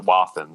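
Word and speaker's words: Wathen's: Yeah, I've met a guy who's an artist, and he's like a third generation non-distiller, and he pronounces it Wathans. So I go with Wathan.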